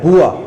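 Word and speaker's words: bourse: local language में उसको बोर्स कहा जाता है लेकिन वो एक फ्रेंच लज है बुआ और उसकी स्पेलिंग अगर आप देखेंगे तो बोर्स के तौर पर आपको बोला जाएगा लेकिन बुआ का मतलब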